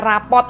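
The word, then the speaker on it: rapport: sih rapuh ini ya kayaknya rapot gitu ya bacanya rapot gitu ya Nah rapuh ini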